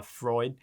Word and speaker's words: Freud: and again i am i am using the the north american pronunciation of it uh freud yeah um again it